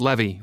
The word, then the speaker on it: Levi: considered how to continue Levi I looked up surprised putting down my phone it's pronounced Levy like Chevy but yeah you're Benjamin